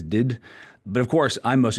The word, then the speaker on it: DDIDD: I pronounce that as did.